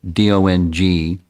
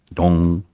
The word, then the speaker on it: Dong: to pronounce it properly, D-O-N-G, Dong. I was told that's how you're supposed to say it, Dong.